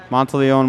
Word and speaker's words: Monteleone: months we'll shoot two i've been mispronouncing his name the whole entire game until i just realized that it's not montellonius mount alone but he'll shoot two